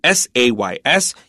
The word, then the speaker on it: says: And just before we continue, pay attention to the word s a ys. Yeah, this is a real easy word, but it's pronounced says.